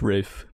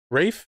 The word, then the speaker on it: Ralph: is ralph finds it's rafe rafe it's spelled ralph but it's pronounced rafe yeah okay i always